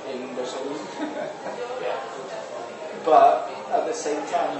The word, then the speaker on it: Resolume: Because like the makers say Resolume. I say Risolium.